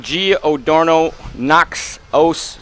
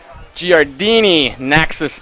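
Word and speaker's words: Giardini Naxos: We are in Giordano Naxos. No, that's not how you say it. It's Giardini, Naxos, Italy.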